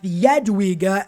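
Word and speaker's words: Jadwiga: definitely not terrible either next up we have yadwiga as it's pronounced and let me just riga's lithuanian union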